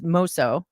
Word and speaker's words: Moso: So, today we have Brett Kelly, CEO of I always say it wrong. It's MOS. Very good. You said it right there. Oh my gosh, I need another adult sticker. So, Moso North America.